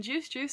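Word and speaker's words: Juice=Juice: video of this single however you don't pronounce the equals in juice juice so why would you pronounce it and this so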